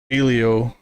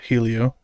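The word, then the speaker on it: Hélio: that works um and learned how to say this dude's name properly Mr iio Castroneves not Helio the H is a apparently silent um uh they did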